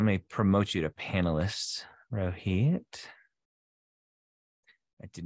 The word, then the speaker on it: Rohit: happened um it's just one of those days Rohit how are you is that is that pronunciation okay uh Rohit but it's close enough I appreciate it Dr